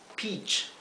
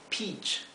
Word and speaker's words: peach: melocotón tenemos la palabra peach peach como les mencioné antes la combinación de letras e a en inglés se pronuncia i Sí Por lo tanto esto se pronuncia peach O sea la e